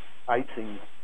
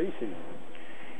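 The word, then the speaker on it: Ising: Tengo aquí el famoso modelo ISIN, que muchos incorrectamente, ISIN, pues suena muy feo ISIN, pero en realidad es holandés, que se pronuncia ISIN.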